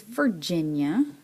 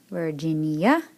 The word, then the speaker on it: Virginia: Vera alright next is Virginia that's a state of her in Virginia what's making that sound in this word g before I G is making a jet sound here alright so yeah Virginia and we go back